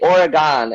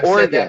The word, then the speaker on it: Oregon: that's the other thing people out here say oregon and i'm like what are you talking about it's oregon before okay no worries okay